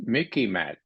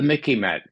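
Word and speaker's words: MICIMATT: you may remember is Mickey mat it uh for your for your viewers it sort of rhymes with Mickey Mouse so you can remember it okay but it's the Mickey mat the military industrial Congressional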